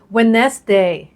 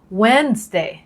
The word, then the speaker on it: Wednesday: วัน พุธ นะ คะ การ ออก เสียง ผิด คือ Wednesday wes Day อัน นี้ ผิด ที่ จริง ต้อง ออก เสียง Wednesday อีก รอบ นะ คะ Wednesday โอเค มา ดู 2